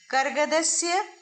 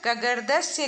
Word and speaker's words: कर्गदस्य: कर्गदस्य, यहाँ पर कगर्दस्य लिखा है, अशुद्ध है। और यहाँ पर लिखा है करगदस्य और यहाँ पर लिखा है करगदस्य, रेफ, आधे र का प्रयोग है। तो सही उच्चारण होगा करगदस्य और लिखेंगे भी इस तरह से सही।